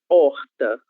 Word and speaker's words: horta: Então, por exemplo, a palavra horta, horta. Essa palavra horta, ela tem a letra H no começo, mas como ela está no começo de palavra, ela não tem nenhum som.